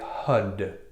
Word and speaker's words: Har: word, and it's called HAR, H-A-R. HAR is a projective force. Projective force. So we'll be saying this, but it will sound like HUD, H-U-D, pronounced HUD, spelled H-A-R, but pronounced HUD.